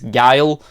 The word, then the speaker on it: Guile: Turns out it's not Guu, it's Guile.